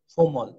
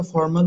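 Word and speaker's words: formal: আমরা প্রথমে একবার আসবো, ফেমাস, বিখ্যাত, ফার, দূরে, ফিবল, দুর্বল, ফাইনাল, চূড়ান্ত, ফুলিশ, হাস্যকর, ফোমল। হ্যাঁ, আমরা শব্দটা ফর্মাল বলে থাকি, এটি উচ্চারণ আসলে শুদ্ধ উচ্চারণ হবে ফোমল, ফোমল, ফোমল।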